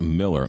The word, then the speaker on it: Mueller: Looks like Mueller, but you pronounce it Miller.